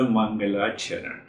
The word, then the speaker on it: Mangalacharan: So the first practice is known as the Mangalacharan. First practice, Mangalacharan. Simple Mangalacharan. Mangal means Mangal. Mangalacharan has 2 syllables, Mangal, Charan.